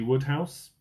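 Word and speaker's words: Wodehouse: Question eight, the author that created Bertie Worester was PG Woodhouse. It's not spelled Woodhouse, but that's how you pronounce it.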